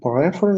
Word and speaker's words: prefer: I prefer that red car over there. Okay, prefer only. The last syllable. Prefer. Ударение на последний слог.